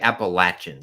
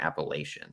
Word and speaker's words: Appalachian: you pronounce it wrong it's like Appalachian State and not appellation you have to get apple Appalachian I think have I